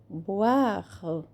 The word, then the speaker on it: boire: Boire. Também é bem pronunciado o R.